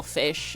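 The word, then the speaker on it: Feysh: And my brother and I thought it was so so funny when you tried to pronounce it and it just sounds like you're pronouncing fish really stupid.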